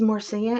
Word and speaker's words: Marcia: I'm like oh my goodness your name is Marcia and she said yeah and I said that's how you pronounce it and she said yeah and I